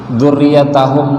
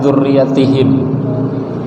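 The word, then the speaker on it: ذُرِّيَّتَهُمْ: Dzurriyyatahum di sini ada juga yang membacanya dzurriyyatihim.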